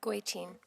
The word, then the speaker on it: Goitein: Goitein.